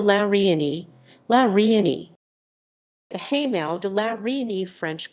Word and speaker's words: Hameau de la Reine: The Hameau de la Reine French pronunciation, Hameau at la Reine, the Queen's Hamlet,